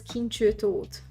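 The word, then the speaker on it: Kincső Tóth: My name is pronounced as Kinchu Toth. My first name is Kinchu.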